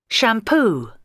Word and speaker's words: shampoo: in the first column shampoo shampoo there are two vowel sounds and the stress is obviously this one you can notice shampoo the stress on the second syllable can be noticed shampoo